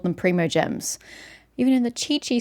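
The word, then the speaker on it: Primogem: So it's a primordial gem, a primo gem. That's why it's meant to be pronounced that way.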